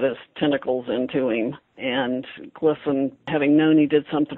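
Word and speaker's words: Glisan: Glisson?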